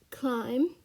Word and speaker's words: climb: word we have is climb and you pronounce it as c-o-i-m-b you write it as c-l-i-m-b but you pronounce it as climb and not climb um